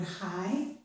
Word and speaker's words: high: Or it can be silent, as in the word high.